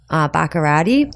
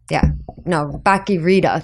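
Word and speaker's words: Bach-y-Rita: It was actually this gentleman named Pedro Baccarati. Yeah. Baccarita. That's it. There it is. Saying it right.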